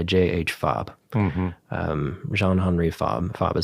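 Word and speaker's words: Fabre: a book by JH fob um Jean hry fob fob is spelled f a b re e he's a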